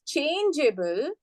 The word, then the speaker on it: changeable: If you want to pronounce it as changeable, we will retain the E. We will not drop the E.